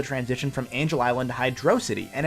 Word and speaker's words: Hydrocity: from Angel Island to Hydrocity, and it's amazing. And yes, I just pronounced it Hydrocity. Not Hydrocity, not Hydro City, I'm gonna be different.